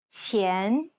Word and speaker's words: 钱: The Chinese Q sound should be pronounced with the tip of the tongue touching the bottom teeth, while the blade of the tongue lays flat behind the front teeth. 钱, We'll break down the